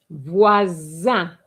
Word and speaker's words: voisin: An s between two vowels gives you what sound? S. No. Z. Voisin. And not voisin.